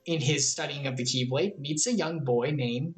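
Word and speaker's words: χ-blade: aren't they all called keyblades yes they are this is very confusing it's called keyblade it's pronounced like the rest but it has this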